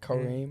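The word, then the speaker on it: Kareem: yeah k Kare Kare they say it right kareim kareim okay okay yeah yeah his name speaks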